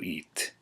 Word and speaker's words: it: punto it or it is actually pronounced like the English eat so punto eat so you get as